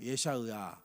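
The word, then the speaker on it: ישעיהו: 자, 먼저 이사야는 원래 히브리어 발음은 예샤으아예요. 예샤으아.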